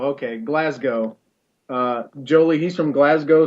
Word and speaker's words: Glasgow: thing he said was you always must pronounce it it's classical glass go okay glasgow uh jolie he's from